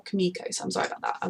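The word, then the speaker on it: Kimiko: frenchie um i think i've been saying it chemical because like when i read the name um that's how i would read it but i feel like they pronounce it more kamikos i'm sorry about that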